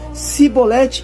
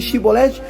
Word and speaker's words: chibolete: então percebe se ele Trocasse o X pelo S dizendo sibolete em vez de chibolete os homens compreendi que